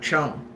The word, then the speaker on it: Chung: Chung, not Chang, Chung.